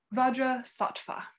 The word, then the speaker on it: Vajrasattva: is it vajrasana is that how do you pronounce his name vajra saatva bhaja sa okay and there's a few guided meditations on baja sappha um that you can find online short versions